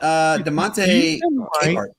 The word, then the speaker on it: Demonte Capehart: How about Demonte Capehart?